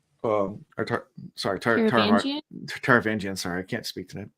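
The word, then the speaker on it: Taravangian: Um, she's talking to a man who Shalon identifies later as as king uh Tarvagian um sorry Tarvangian.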